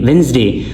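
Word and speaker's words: Wednesday: वेडनेसडे वेडनेसडे बहुत ज्यादा लोग वेडनेसडे कहते हैं। ठीक है? गलती करते हैं। डी साइलेंट है।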